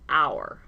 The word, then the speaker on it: hour: The H is silent, so you hear the OU vowel sound, hour.